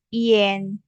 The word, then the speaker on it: ian: in oke oke oke terus ada ini ada I A N tapi dibacanya I E N I E N.